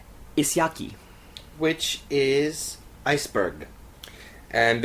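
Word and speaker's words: Ísjaki: sounding tone we have track three which is pronounced isaki which is Iceberg and and uh this was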